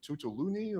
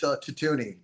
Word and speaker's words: Tutuni: Tutuluni or? No, it's Tutuni.